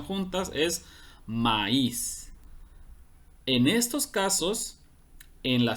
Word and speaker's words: maíz: Porque si no llevara tilde diría maíz, como los pronuncian en algunos lugares o en la manera de juego cuando dicen ni maíz, ¿no? Pero esa no es la forma correcta de pronunciarlo. La palabra correcta es maíz.